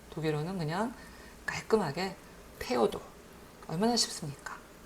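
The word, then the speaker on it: Theodor: 영어의 그 발음은 너무 어려운 발음이에요. 독일어는 그냥 깔끔하게 테오도.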